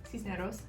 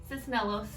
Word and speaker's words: Cisneros: But he pronounces our last name, which is Cisneros, and he says Cisnelos.